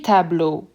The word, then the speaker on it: tableaux: It will not change the pronunciation at all. Le tableau becomes les tableaux. The only difference in pronunciation that you hear is with the le versus les.